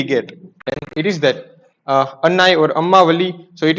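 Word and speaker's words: அன்னை: It is written as annai, but it is pronounced as amma.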